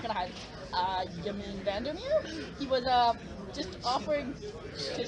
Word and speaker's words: Vandermeer: Okay, it's spelled mirror, not like M-I-R-R-O-R, is it? It's M-E-E-R.